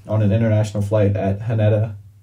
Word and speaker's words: Haneda: So, a man arrived in Japan on an international flight at Haneda. I think it's how you pronounce it, Haneda Airport.